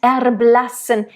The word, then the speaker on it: erblassen: In the erblassen, I would, then I would roll it. Erblassen, and not maybe rolled, but more flipped. Because it's a short syllable and the it's the same as the at the end. It's a little bit more open. Erblassen. And again, that N, like LMN.